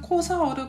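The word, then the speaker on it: Xhosa: 남아공이 언어 중에 하필이면 코사우르 공용으로 시작했는지 이유는 있다고 설명드릴게요 사실 코사우의 코가 그냥 코가 아니라 사실 호사어입니다 코사어로 코사원은 20 허사라고 해요 그 xh 코사 이렇게 발음이 됩니다 저도 처음에 발음이 잘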